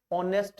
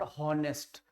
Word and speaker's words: honest: इन सारे शब्दों में समझो ये एच है ही नहीं, ये साइलेंट होता है, एच यहाँ पे साइलेंट होता है बेटा, ठीक है। कभी भी यहाँ पे आप ह को प्रोनाउंशिएट नहीं करोगे, ह साउंड कभी नहीं आता इन शब्दों में। ऑनेस्ट बोलते हैं, नॉट हॉनेस्ट, ह नहीं आएगा, सुनाई नहीं देगा, एच यहाँ साइलेंट होता है।